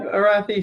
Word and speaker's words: Arathi: they can make a decision can we have arathi say her name just so donna can record